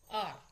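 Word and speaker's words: hour: हम बोलते हैं ना आर अब यहां एच साइलेंट है क्या एच है कसोनेंट लेकिन एच साइलेंट है और साउंड क्या आ रही है आर तो यहां क्या लगेगा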